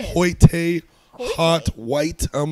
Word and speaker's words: Hoyte: Because it's very clearly Hoyt. It's Hoyt. Yeah. It's like an Irish cop name. It's pronounced as Irish, it looks.